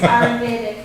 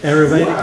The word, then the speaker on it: Ayurvedic: I couldn't pronounce it. So you're on to me. It's Ayurvedic. Ayurvedic.